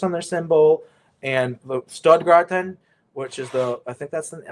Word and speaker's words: Stuttgart: But is it Stuttgart? Stuttgart. Yeah.